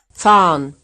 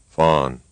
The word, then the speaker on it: fahren: Here's another word pronounced right and then wrong. Fahren, Fawn.